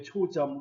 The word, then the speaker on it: 초점: 초점, 그죠? 그런데 실제로 이것은 초점 이렇게 된 소리로 뒤에 발음합니다. 그러니까 앞말 끝소리 모음, 울림소리입니다. 뒷말 첫소리 된 소리로 바뀝니다.